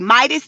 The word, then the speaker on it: Meidas: The YouTube channel is called The Midas Touch. That's spelled MEIDAS and then the word touch.